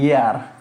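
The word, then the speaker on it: hour: দেখেন the king left, এটার উচ্চারণ হেয়ার না, এটা হচ্ছে ইয়ার। এয়ার যখন উচ্চারণ হয় তাহলে এইচের উচ্চারণ হয় না, তাহলে কি আসবে?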